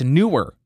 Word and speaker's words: Neewer: He said, hey, you're pronouncing it wrong. It's newer.